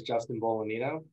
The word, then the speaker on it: Bolognino: Hi, my name is Justin Bolognino, and the G is silent.